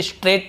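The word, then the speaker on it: straight: स्ट्रेट away, स्ट्रेट away यानी होता है बिल्कुल सीधा, उसे स्ट्रेट अवे बोलते हैं, इसे स्ट्रेट पढ़ेंगे, ठीक है, जी साइलेंट होता है, स्ट्रेट, ऐसे स्ट्रेट अवे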